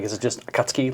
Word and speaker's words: Akatsuki: Like is it just akatsuki? Like it's like really fast? It is Akatsuki. Really? but it's not- They say all four syllables.